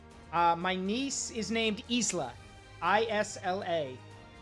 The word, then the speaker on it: Isla: So, my niece is named Isla, I-S-L-A. So I'm an uncle now. The S is it? So Isla. It's. How do you know the S is silent?